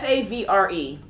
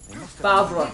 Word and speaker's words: Favre: It's spelled Favre, and yet, even though the R comes after the V, you are pronouncing the R before the V.